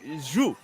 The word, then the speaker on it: sju: Yeah, it's not too far off. Honestly, it's a weird sound for Americans to make in the English language. It's like who? Thomas, you probably pronounce it a little differently, right? Like, we say it more like shoe.